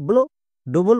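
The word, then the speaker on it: blood: থাকবে আশা করছি সবাই বুঝে গেছো চলো এবার উচ্চারণ করি বি L consonant blending word এর জন্য সাউন্ড হয় ব্লো ডবল ও এর পরে ডি আছে তার মানে ডবল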